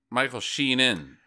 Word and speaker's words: Michael Sheen: she's Michael Sheen and Kate beckin sale's daughter Michael sheenan Michael sheen sheen his name is Michael Sheen